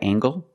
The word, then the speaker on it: angle: Is this a right angle? That's right, this is a right angle. Use the nasal plus the hard g.